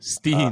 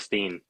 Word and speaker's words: Steen: I just asked him today how to say it. He said it to me and I forgot it. But it's like Stena or Stene or it's something like that.